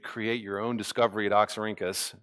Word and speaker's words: Oxyrhynchus: pronounce it again? Oxyrhynchus, yes. Oxyrhynchus.